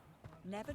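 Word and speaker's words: Niamh: feeding station over here how's that spelled Neve I don't get it foreign but it's n-i-a-m-h is how it's spelled oh my God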